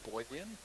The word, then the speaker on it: Gwydeon: I know it looks weird, but it's actually pronounced Gwydeon.